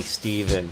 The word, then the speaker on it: Stephen: And hey, Stephen, is it Stephen or Stefan? I honestly don't know with all the different countries and stuff going around. So it could be pronounced so many different ways. But anyway, what's up? I am paying attention. Like a V, Steven.